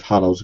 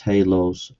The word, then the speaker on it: halos: Radioactive hallows. Good grief. It's pronounced halos.